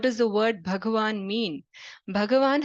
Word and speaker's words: Bhagavan: Bhagavan has two syllables, okay? Bhaga and Van.